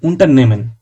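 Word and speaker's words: Unternehmen: উনটা নেমেন হাটা light silent একটা ভাব থাকবে। উন্টার নেমেন এন্টারপ্রাইজ বা কোম্পানি ফাটার।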